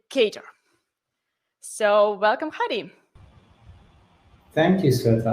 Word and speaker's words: Kotlin: speakers in our audience tor is wrong you should say cater so welcome hari thank